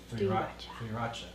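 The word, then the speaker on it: 3RACHA: 3 Raka, or is pronounced like the number 3 and then Racha from Sriracha. Some 3 Racha. Or Trey Racha maybe? Oh. Tree Racha.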